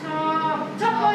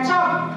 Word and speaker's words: chop: Cop itu, Miss. Ya, chop.